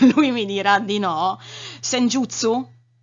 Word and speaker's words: Senjutsu: Senjutsu? Sì. Si pronuncia così? Sì.